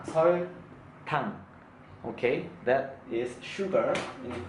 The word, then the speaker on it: 설탕: Okay, when I pronounce, try to remind the alphabet. Okay, sh sound, s sound, 아야, 어여, and then l sound, 설, t sound, and then o sound, 탕, 설탕.